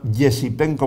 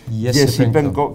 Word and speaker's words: Esipenko: uno que se llama Yesipenko, bueno, se escribe Esipenko, pero esa E se pronuncia Ye, Yesipenko, que nació en el